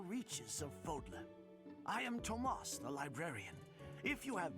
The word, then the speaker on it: Tomas: the Decades it seems Tomas I'm sorry that is apparently the way to pronounce his name well I guess there's no h after the te he's just trying to